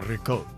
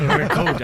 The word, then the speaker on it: ricotta: Oh, ricotta.